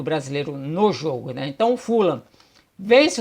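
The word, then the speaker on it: Fulham: nessa semana aqui né se pronuncia fulan na Inglaterra é o Fred Caldeira aqui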